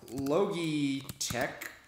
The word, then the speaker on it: Logitech: can do you know logi Tech all right Logitech and or litech however you want to pronounce it and kind of uh